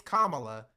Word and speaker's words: Kamala: For Kamla, it's like, say my name correctly. It's Kamala.